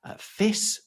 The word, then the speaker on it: fisc: In Old English, it was fis or fish, although that's spelled F-I-S-C.